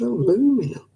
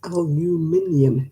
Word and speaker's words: aluminium: cup of coffee everywhere it's like you're aluminum what the hell is aluminum it's aluminium if you spell it out phonetically it's not